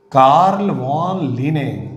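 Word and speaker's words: Carl von Linné: कार्ल वॉन लिने, कहीं आप ये नाम भी देखेंगे, और कार्ल वॉन लीनियस, यह भी नाम आप पढ़ेंगे। दोनों सही हैं, भाषागत उच्चारण के कारण दोनों नाम सही हैं।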